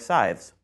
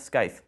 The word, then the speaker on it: scythe: trim their lawns by hand with tools like scythes that's right it's pronounced Scythe not Sky we looked it up a British man named